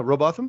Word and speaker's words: Robotham: Am I pronouncing that right? Yeah, Robotham.